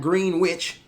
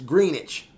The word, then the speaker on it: Greenwich: channel let me know it's not Greenwich, it's Greenwich. So you kind of got a silent W in the word, so to speak.